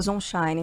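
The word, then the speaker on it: Zonshine: nós faltou este conação corrigir aqui a pronncia na verdade Daniel Zine a gente sempre teve né essa dúvida chamava de Zine ele próprio confirmou que a pronúncia é Zine então Daniel disse acreditar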